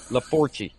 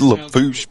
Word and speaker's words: Lafourche: what typical but you the four key laforkie it is that is not Lafourche yeah it is you're full of there's too many letters It's pronounced Lafourche Parish no yes when I